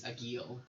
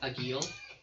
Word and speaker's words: Agil: So the bartender's name is Agil. Is a what? Agil. A You yield? spell like agile, but it's a hard G.